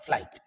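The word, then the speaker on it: flight: Okay, FLI फ्लाई, GST, यहां पर G silent होता है। आगे की क्लासेस में हम साइलेंट लेटर के भी रूल्स पढ़ेंगे, but just you understand FLI GST that is what, फ्लाइट।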